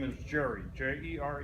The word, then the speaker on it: Jere: back to am listening my real name is Jerry jeg ER e is pronounced jerk ok here just have to say